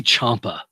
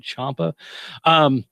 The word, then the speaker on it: Ciampa: And again, Aleister Black and Tommaso, I want to say Ciampa, but I'm not sure is that right? Is that how you spell it? Like Chow, right? Ciampa.